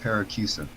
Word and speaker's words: Paracusia: Yeah, Paracusia. Okay, thank you for that, because I didn't want to murder the pronunciation. It's Paracusia?